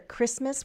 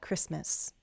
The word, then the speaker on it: Christmas: Christmas, we don't pronounce the T. Remember that. Christmas.